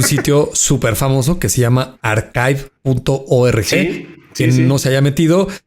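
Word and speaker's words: arXiv.org: no se haya metido, se escribe ar x i b de vaca o v, como le dicen, ¿no? El el en vez de ch está sustituido por una X, ¿no?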